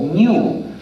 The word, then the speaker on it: GNU: New System es The New System hay que pronunciar la g pero en castellano es aceptable pronunciar el nombre como New como si comenzara por en porque es el nombre